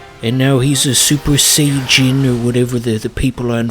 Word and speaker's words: Saiyajin: It always pissed me the hell off how people on message boards wouldn't say Super Saiyan, they'd have to say Super Saiyajin, because that's the official Japanese pronunciation.